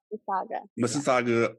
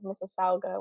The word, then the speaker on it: Mississauga: uh all the way from uh how you pronounce it Mississauga Mississauga Ontario Canada right okay all right got it